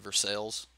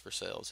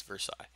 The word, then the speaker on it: Versailles: gonna get me already I'm gonna call it Versailles but if you go there it's called Versailles Versailles Kentucky but it's word is not pronounced for sales it's Versailles but whatever You Know Who am I Who